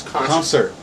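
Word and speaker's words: ConcRT: is you can guess we pronounce concert this is concert yeah and concert is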